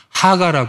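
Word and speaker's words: הגה: 여기 나타나는이 묵상이란 단어가 히브리어로 렇게 생겼어요 이거를 뭐라고 읽냐 하가라 읽어요 하가 하가의 원래 사전적인 뜻이 뭐냐면 낮은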